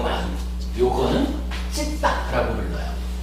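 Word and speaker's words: citta: 그리고 마음 진짜를 쓰는 요 마음, 요거는 찢다라고 불러요. 요 C가 영어하고는 좀 달라서 요 C가 이제 쯔, 그러니까 쌍지읒 발음이 나고요. T가 트가 아니고 뜨 이래가지고 찢다 이렇게 돼요.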